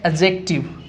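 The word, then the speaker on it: adjective: सही प्रोनाउंस करते हैं, जैसे कि इस वर्ड को कई तो एडजेक्टिव बोलते हैं, जबकि सही इसका होता है एडजेक्टिव। कारण इसका ये है, आपके सामने डी लिखा हुआ है और जे लिखा हुआ है। जब ए और जे के बीच में डी आता है तो डी को प्रोनाउंस नहीं किया जा सकता, इसलिए इसको हम कहेंगे एडजेक्टिव।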